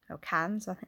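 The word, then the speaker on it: Cairns: stems from her upbringing childhood home town in Kahn's in Cannes is pronounced in the tropical North Queensland of Australia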